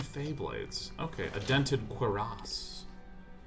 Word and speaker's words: cuirass: Okay, a dented cuirass. It's technically pronounced cuirass, but you get a helmet soon.